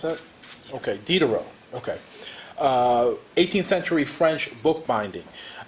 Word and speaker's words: Diderot: for Jeff Peachey's lecture, Reconstructing, I think it's Diderot. Did I pronounce that? Okay, Diderot.